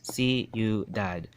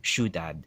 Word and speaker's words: Ciudad: right so for example Ciudad is 3 syllables see you dad right see you dad but chavacano speakers have that tendency to shush it right so don't say shoot dad in for two syllables you might shoot that but it's actually